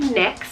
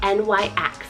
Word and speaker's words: Nyx: Next is the name Nyx, spelled N-Y-X, Nyx.